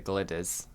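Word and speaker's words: Glyders: Is it the gliders? So I would pronounce it the Glidders.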